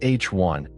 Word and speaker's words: H I: Most of the interstellar medium's mass is in hydrogen, either atomic hydrogen, written H1 and pronounced H1, or molecular hydrogen H2 or ionist hydrogen H2.